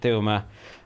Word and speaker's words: Thuma: I said it wrong off the top, but I fixed it, Thuma.